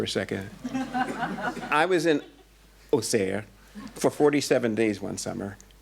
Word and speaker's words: Auxerre: You know, it's spelled A-U-X-E-R-R-E, Auxerre, but having spent too much time in Auxerre, I know that the people from Auxerre say Auxerre.